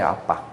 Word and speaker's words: 아바: 것은 전세계 공통 용의 아빠의 아빠 에 원래 발음이 아빠 인데 우리말의 아 바라보는 아빠